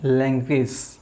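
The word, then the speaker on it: language: अगर ये लेटर्स किसी भी वर्ड के पीछे आए बनकर तो इनका जो प्रोनाउंसिएशन होता है मेरे दोस्तों वो होता है भाई इज।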